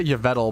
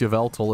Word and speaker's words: Yveltal: I I always say yal but actually looking at it it's Yveltal isn't it Yveltal i' probably say